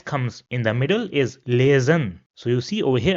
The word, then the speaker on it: lesen: Another word where S comes in the middle is lesen. So you see over here again, we pronounce the S as a Z in English.